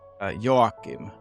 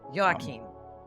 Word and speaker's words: Joakim: The Finnish version is Joakim. Joakim.